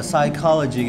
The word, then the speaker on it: psychology: cinta bacanya gimana itu meskipun ada tulisan p-nya tapi enggak dibaca ya psychology gitu doang ya letupin knya Yang